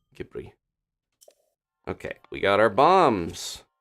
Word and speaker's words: Ghibli: Ghibli movie so okay Ghibli or Ghibli you can say either it's a Italian word with a Japanese pronunciation it's kind of gone through all these permutations so Ghibli is just how they the studio says it even though I think it would be Gippy okay we got our